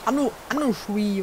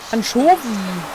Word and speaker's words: Anchovy: Anushui oder so, keine Ahnung. Was? Englisch? Anchovy wird das ausgesprochen.